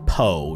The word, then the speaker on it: Poe: All right, so lots of people telling me that it's pronounced Poe, not Poo.